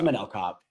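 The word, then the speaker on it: Manel Kape: a plus 130 Underdog am I pronouncing his last name right I feel like I'm not but I'm not man cop yeah it is manell cop yeah yeah it's like spelled like manell cape but anyway um yeah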